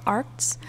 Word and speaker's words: Arrtx: by this brand called arts i hope i'm pronouncing it okay i think it's meant to sound like art which is super cool